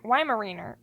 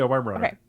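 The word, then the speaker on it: Weimaraner: ways to pronounce it so I was pronouncing it wrong W Runner I said why Runner why why Mariner why Mariner is wronger why why Runner yeah W Runner uh and he got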